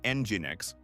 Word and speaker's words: nginx: Click Generate and listen to how the voice pronounces these common problem words. The data from nginx shows how the schedule affects our route planning.